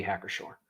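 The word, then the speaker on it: Hacker-Pschorr: if so my apologies he says no pronounce sure okay okay heck or sure that's that's what i thought but i could have swore you pronounce the p it doesn't sound like you should though it definitely sounds like it should be hack or sure whatever regardless there's a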